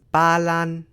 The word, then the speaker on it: Ba Lan: The word for Poland in Vietnamese is ba lan, which is meant to sound like Poland, but touching grass's word